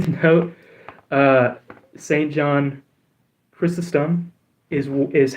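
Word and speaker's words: Chrysostom: John Chrysum is is how I've been told is the correct pronunciation. Um, I know some people will correct me and say, um, Christosum, but that would require another T in the name.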